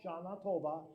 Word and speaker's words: Shana Tova: Yeah, so in Hebrew it's 4 syllables, Shana Tova.